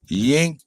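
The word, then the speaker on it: Cenk: Turks what's his name yink whatever the it's like his name spelled with a c but you don't say the C it's like ink and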